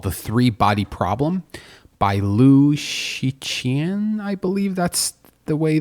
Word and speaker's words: Cixin: The last name is spelled Cixin. And I actually spent a good 5 to 10 minutes on Wikipedia trying to figure out how to actually pronounce this, because Mandarin has a bunch of sounds that are unnatural to Western sort of speech. So Shiqian, I believe, is the pronunciation.